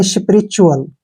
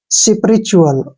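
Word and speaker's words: spiritual: पर देखिए ध्यान देखिए टीयू का जो उच्चारण है हम च च के रूप में करना है ध्यान से देखिए टी यू का उच्चारण य च के रूप में ऐसे करेंगे च और यू के रूप में ठीक है और एल को ले चुअल इसको चल पढ़ेंगे या स्पिरिचुअल क्या पढ़े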